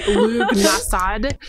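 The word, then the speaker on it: Lughnasadh: It looks weird as hell, so any guesses, any pronunciation that's not Lunasad is probably okay.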